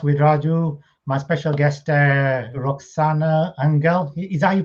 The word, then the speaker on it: Roxana Anghel: time spotlight podcast without raju my special guest roxanna angel is that you pronounce it yes perfect yes very very talented